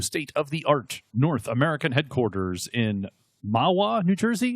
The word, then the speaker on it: Mahwah: North American headquarters in Mahwah, New Jersey. Is that how you say it, Mahwah? Yeah, I believe so, yes.